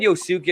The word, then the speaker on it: Yosuke: Well, see what I love about Yosuke, and I am pronouncing his name right. He prefers that. I said Yosuke. I said, did I get your name right? He goes, yeah, don't worry, it's okay.